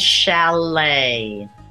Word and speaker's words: chalet: there's a final t valet again final T when you're writing it but we don't pronounce that final t ballet debut and Chalet practice the pronunciation with